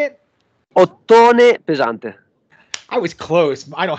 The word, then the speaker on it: Ottone Pesante: All right, Clint from the doorway too, hanging out with, I think it's Ottone Pesante. Is that how you say it? Ottone Pesante.